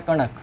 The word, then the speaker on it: कणक: एक होता है कनक और एक होता है कणक। कणक कणक और ये होता है कनक। कनक कणक। प्रोनाउंसिएशन में थोड़ा सा फर्क होता है।